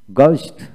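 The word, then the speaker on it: ghost: গানিস, গানিস, গস্ট, গস্ট, জি ও এস টি, গস্ট এইচ উচ্চারণ হয় না।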